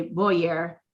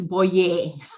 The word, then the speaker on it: Boyer: So he emphasizes Boyer, and this is spelled Boyer. So people are immediately say Boyer, and it's like, no, it's Boyer.